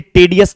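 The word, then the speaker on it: tedious: आई ओ यू एस इस word का pronunciation बहुत से बच्चे टेडि एस करते हैं बट टेडि अस जो है वो रॉन्ग प्रोनंसिएशन है राइट प्रोनंसिएशन इज टीडीएस क्या पढ़ोगे टीडीएस पढ़ोगे टी ई डी आई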